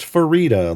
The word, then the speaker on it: Farideh: Yes, it is pronounced Farideh, like fajita.